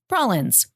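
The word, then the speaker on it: prollins: So we're going to pop out of the show for just a second to let me explain to you the word prahlins. It's spelled P-R-O-L-L-I-N-S, prahlins.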